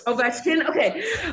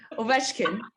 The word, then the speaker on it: Ovechkin: I already know it, but I think it's pronounced Ovechkin. You're close. Ovechkin. Okay. You got me. Ovechkin.